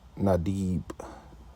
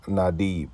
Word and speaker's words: Nadiv: It's called Nadib. Let's see where it goes. Strong's H 5081. Nadiv. I don't know Nadiv. if you brothers heard that, but it's Nadib. That's how you pronounce it.